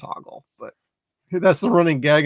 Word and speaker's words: Hoggle: or whatever you want to call him it's Hogle but that's the running gag in this movie